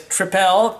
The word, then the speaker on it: Tripel: we have the triple i love saying it as trepel because in the u.s it's spelled p-l-e not p-e-l-triple so here we go